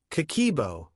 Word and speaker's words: Kakeibo: Habit number one, Kakeibo. The handwritten money journal. I know we start here because this is the foundation that everything else is built on. Kakeibo, pronounced kah-keh-ee-eh-boh, is a Japanese household budgeting method that dates back to 1904.